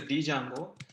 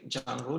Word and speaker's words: Django: say it is a django but actually we need to pronounce it as a jungle d is silent so people say it